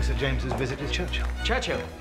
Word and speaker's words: Churchill: James's visit his Churchill Churchill that's how you say it all together like that I'd heard church and Hill but couldn't find either all I could see